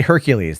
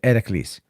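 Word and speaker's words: Heracles: going to be ethically they don't say Hercules they call it a Cleese ahead of Cleese is how they pronounce it in ancient Greece you know instead of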